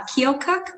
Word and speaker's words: Keokuk: may 27th we're back in iowa in uh keokuk i believe is how you pronounce it uh at joysticks rockade uh lincoln